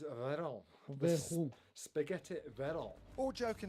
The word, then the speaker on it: Veyron: So from now on, it's Veron.